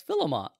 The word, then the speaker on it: Philemon: And as he started reading the story, I was like, wait, that's Philemon.